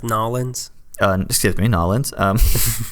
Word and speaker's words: New Orleans: ride he said that apparently takes hours it's pronounced nollans and just gives me nollans gonna smack your